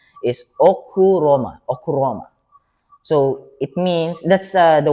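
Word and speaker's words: ὀχύρωμα: But if you read it outright, Okairoma or Roima, Okairoima, but the pronunciation is Okuroma.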